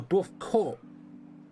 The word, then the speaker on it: Dwarf Corp: Oh, Dwarf Corp. C-O-R-P. Which is still pronounced core. Yep, but it's spelled with a P.